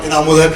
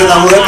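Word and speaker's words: Inamul Haq: मेरा नाम बड़ा बिगड़ता जा रहा है। मैं शहर में नाम कमाने आया था, कभी स्पेलिंग और कभी प्रोनाउंसिएशन। मेरा नाम इनामुल हक है एंड आई एम नॉट a tourist. My नेम इज इनामुल हक एंड आई एम नॉट a tourist, so please make a correction.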